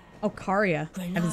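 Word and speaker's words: Caria: for a moment of the last queen of carya oh karya i've been saying it wrong whoa that's so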